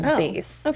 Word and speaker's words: BÉIS: And these products are called BÉIS. That's the name of her new lifestyle brand. So, go check it out. Short for like basic? No, it's spelled b e i s, but pronounced BÉIS.